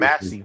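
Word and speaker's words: Yamassee: saying to do some Yamasi. shit. You ever heard Yeah, them say it like that? yeah. Yamas. I'm like, That is actually the right pronunciation.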